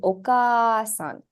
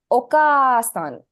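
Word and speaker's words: お母さん: listen to me okay okasan did you hear any sound being elongated once morean yes I'm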